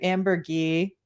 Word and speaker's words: Ambergris: What did y'all think of, and I've been corrected on the pronunciation, thank you, Amber Gee, Element, and the Slaver Weapon episodes that we watched for this evening.